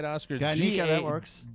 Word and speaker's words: Garnica: Garnica was, am I pronouncing that right, Oscar? Garnica, that works. G-A-R-N-I-C-A.